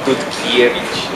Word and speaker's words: Dutkiewicz: Sari, esta vez nos acompaña un gran amigo que es Tutkevich. ¿Lo pronuncié bien? Casi, entonces dile cómo está desde el principio. Tutkiewicz, nada más.